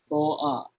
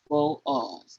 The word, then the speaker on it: Boaz: So while reading this next diagram, I want you to understand that this word is in 2 syllables, Boaz, Boaz, like the Wizard of Oz.